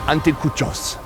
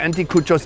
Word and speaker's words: anticuchos: We've been eating street food all day, and it all has built up to this moment right here with the anticuchos. How's that pronunciation? Exacto, anticuchos.